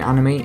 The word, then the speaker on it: anime: I hear you asking, what's the difference between anime and manga? First of all, what is anime? Anime is an informal or shortened way of saying animation. It's pronounced a-ni-me. That's the most authentic way of saying it, since anime is